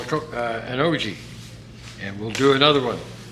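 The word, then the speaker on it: ogee: and a cove it creates what they call an og that's spelled o-g-e-e and here's one right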